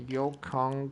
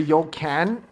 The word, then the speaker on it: Yokon: I keep saying the Yokan. It's Yokon, but there's no like H, so I don't really know. That I searched on the pronunciation online because, I mean, it sounded a bit weird if you called it the Yokan, but yeah, that's apparently not how you say it.